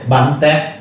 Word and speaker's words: Bánh tét: Bánh tét. long. Okay. Alright, can you try to pronounce that? Again? Bánh tét. Bun Tet.